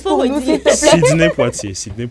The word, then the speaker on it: Poitier: te récupère quand tu vas prononcer le nom prononce pour nous s'il te plaî Poitier Sid Poitier d'accord SNE Poitier voilà justement on parle de